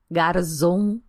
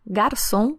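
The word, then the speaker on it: Garzón: ar-condicionado de rerez albara escreve com z mas pronuncia como S porque em espanhol não tem o som de z Então para de falar Mendoza Garzon Catena Zapata é mendoça garçon e Catena Zapata Combinado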